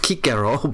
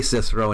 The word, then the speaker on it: Cicero: Cicero is the English pronunciation is completely wrong. It's pronounced Kiko, but uh, we say Cicero in English.